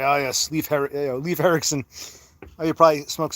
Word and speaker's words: Leif: Leaf is perfectly acceptable. Good job, Cassandra. You might not know how to make tacos, but you can pronounce Leif Erikson.